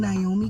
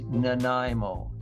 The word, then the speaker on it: Nanaimo: Listen carefully, everyone. It is Nanaimo.